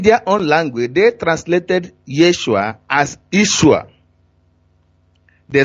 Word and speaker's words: Yeshua: name in Hebrew language his true name is Yeshua why I spell it y es su as h ua that is the real name so whoever call it